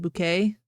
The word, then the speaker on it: Bucket: There's a hoity-toity woman named Hyacinth Bucket, but she pronounced it bouquet.